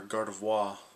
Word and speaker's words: Gardevoir: need, like say Gardevoir, or Gardevoir is the correct pronunciation, and Mewtwo EX or something like that.